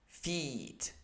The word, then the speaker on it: feet: what's the difference uh the first one the short one is also a lower so i have to relax my mouth in order to pronounce it properly the second one the second one is tensed so i have to stretch my the angle of my mouth a little bit and try to uh